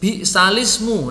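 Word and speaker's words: بئس الاسم: Terus bi'salismu. Nah, ini bi'salismu. Ini sudah kita bahas kemarin ya. Bi'salismu itu bisa dibaca bi'salismu, bisa dibaca alismu kalau dimulai.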